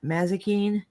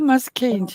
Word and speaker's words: Mazikeen: And how do you say that? Mazikine? Oh, Mazikeen, yeah, she's one of Oh, we love our channel.